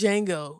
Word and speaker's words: Django: It's Django. The Django D is is silent, right?